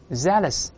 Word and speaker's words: zealous: 前面发 i 大声里面 zealous 好，我们从头呢把